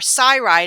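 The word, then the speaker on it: CyRide: to get around and our cide is spelled like our Cyclone Cy r i d e so we have that little sigh everywhere we go now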